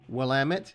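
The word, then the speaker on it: Willamette: goldings um what else wamit that's how you pronounce it I can tell you that of all the stuff I've said today I can promise you wamit is the way you pronounce wamit because I literally live 20 minutes from the river so uh sorry but I hear that one mispronounced a lot and you know what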